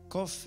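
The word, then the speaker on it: קוף: Kuf is pronounced as a K and in some Hebrew dialects as a Q, the same sound but from further back in the throat, a letter widely used in Arabic.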